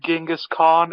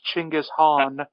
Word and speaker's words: Chinggis Khaan: you get it wrong you actually said the name wrong it's not actually ginga's Khan it's Chinggis Khaan or Temujin whatever well